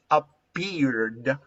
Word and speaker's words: appeared: If you pronounce appeared, appear, which is the last sound appeared, of appear, there is vibration of a vowel chords. And there is vibration of a vowel chords, you have to pronounce d, appeared, appeared, appeared. Immediately, appeared. when you pronounce the R sound of appear, you pronounce the D sound, appeared.